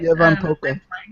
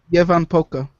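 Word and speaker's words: Ievan Polkka: Yevan Polka. What is it? Yevan Polka. Yes, of course. Levan Polka in this, and she's going to dance with kids. The L is silent.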